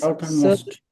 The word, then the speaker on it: southernmost: The word is साउदर्न चाहिँ होइन the word is Southernmost. southernmost, not southern but southernmost. Southernmost. Northern and southern, that's the correct pronunciation.